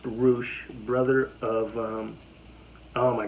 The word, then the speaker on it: Rush: of some heat himself ruche a former roh Champion that's r-u-s-h but it's pronounced roosh brother of um oh